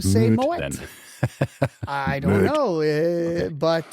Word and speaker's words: Moët: And now, why is it not Moët? Moët. I always pronounce it wrong. Moët? You know, Exactly. until I learned it is correct. I don't know. Tell me. The guy, apparently Mr. Moët, is not French. He is Dutch.